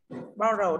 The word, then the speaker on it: borrow: Borrow đây là động từ, trọng âm dây âm tiết nào đây? Bạn Sơn Tùng nào? Borrow bình thường là động từ rơi vào âm tiết thứ hai, nhưng ở đây borrow của các bạn thì